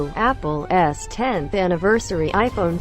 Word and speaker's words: X: The X, pronounced 10, is a beautiful, modern sculpture, and iPhone owners finally have a reason to show off their phones again.